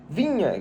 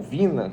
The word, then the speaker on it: Viña: vamos começar falando do Matias vinha jogador ou Vina como você quiser pronunciar muita gente pronuncia dessas duas formas um jogador uruguaio de